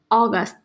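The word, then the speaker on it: august: ऑगस्ट, ओ निकलेगा इसका pronunciation.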